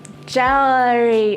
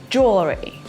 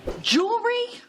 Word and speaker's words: jewelry: If you said something like jewelry or jewelry, that's incorrect, my dear. This is the word that is pronounced like jewelry.